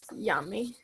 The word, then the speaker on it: Yami: Is it Yami or Yami? I don't want to pronounce it wrong. It's yummy.